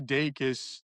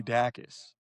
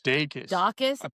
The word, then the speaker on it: Dacus: I found out recently that Lucy Lucy Dakus is pronounced Lucy Dakus and not Lucy Dacis. I think I would have said yeah do Lucy Dus. It's Dus Dacus.